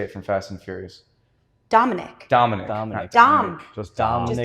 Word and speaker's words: Dominic: Dominic.